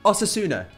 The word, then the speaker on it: Osasuna: lately right so our next game we have Auto sooner pronounced it right that time definitely advise players leaving